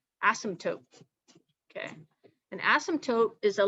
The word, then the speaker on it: asymptote: pen asymptote okay and has a silent p in there asymptote okay an asymptote is